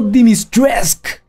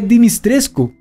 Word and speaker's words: Dimitrescu: Ethan lo pronuncia como Dimitresque. Y hay otros que dicen Dimitrisk. Pero supuestamente sí se lee Dimitrescu.